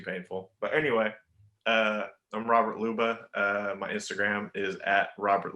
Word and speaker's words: Ljuba: But anyway, I'm Robert Ljuba. My Instagram is at Robert Ljuba, LJUBA. I'm based in silent. What? J is silent.